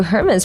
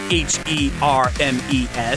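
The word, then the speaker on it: Hermès: I knew that Hermes was spelled Hermes, so I could understand the mistake, but I restrained myself from lecturing them that you don't pronounce the H in the company's name.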